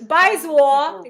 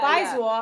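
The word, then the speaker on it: 白左: Bai is white. Yeah. By second tone Baizwar. It's like slang. It's been slang since 2015. White something. Zwa is left. They don't use it that much. Yeah. Baizwar.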